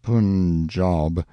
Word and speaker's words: Punjab: one day from the punjab you must pronounce it pun job the handwriting was excellent